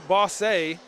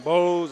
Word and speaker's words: Bosse: our matchup against Evansville Boss A. Now, I was mispronouncing it earlier. I think I called him Bose. I called him boss. I have been corrected. It is Boss.